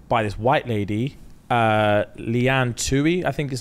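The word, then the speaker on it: Tuohy: So he got spotted by this white lady, Leanne Tui, I think is how you pronounce it. Tui, yep.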